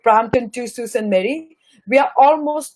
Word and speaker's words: Sault Ste. Marie: So we have to call it as a Sault Ste. Marie, Ontario.